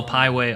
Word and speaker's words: Pieway: So Also a plug to follow Pieway on YouTube. Yeah, go for it. It's spelled like highway, but the first H is a P.